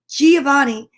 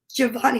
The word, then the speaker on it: Giovanni: pretty cool name and do you understand that giovanni sounds exactly like the letter g but it's also a different sound it's the soft g sound instead of the g good it's j giovanni it sounds almost like the letter j then we have graceland